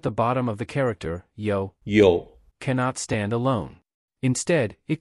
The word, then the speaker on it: 有: In this sentence, we use a yo-yo ball to remember the pronunciation of the word yo, yo, which means to have or there is slash r.